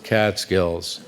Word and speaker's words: Catskills: It's called a spondy. It's just two accented syllables, Catskills.